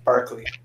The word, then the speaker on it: Berkeley: Berkeley is actually pronounced Barkley.